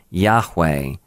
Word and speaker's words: Yahweh: y h w h there are no vowels in in ancient Hebrew and so it's an unpronounceable name we can kind of sort of give it a pronunciation by saying Yahweh but it it really does not have a easily pronounceable name but it means I